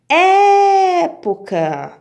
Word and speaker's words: época: Época. Então, vamos lá. Época. É fácil, porque já vem acentuada, né? Então, eu descobri que a sílaba forte, a sílaba tônica é o E.